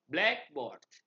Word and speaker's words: blackboard: Stress is typically placed on the first element of a compound word. Example, blackboard.